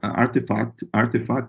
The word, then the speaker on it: RTFKT: Existe a Artefact, que se escreve RTFKT, né?